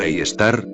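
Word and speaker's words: Sagittarius A*: El agujero negro que se encuentra en el centro de nuestra galaxia, Sagitario A pronunciado e Star, tiene 4 millones de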